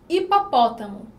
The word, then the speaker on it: hipopótamo: Hipopótamo tem 10 letras e 9 fonemas, já que o N, ou, desculpa, o H, ele não tem som.